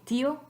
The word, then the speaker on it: tío: So try to say tío in one syllable. Just try it. Tío, tío, tío. Sounds stupid because we don't want tío, we want tío.